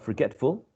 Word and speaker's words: forgetful: If you think about this, forgetful, the root is forget, right? Forget. Stressed goes on the, or falls on the second syllable. Forgetful, forget, forgetful. It's basically the same syllable, which is stressed, which is the most prominent one.